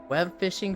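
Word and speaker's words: Webfishing: I just learned recently it's not web fishing it's we B fishing you're supposed to say we and then pronounce the b on its own and then fishing it's like we be fishing together um I didn't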